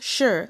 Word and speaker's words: shi: three so we have Shi that will be pronounced sure like shingen then Chi CH is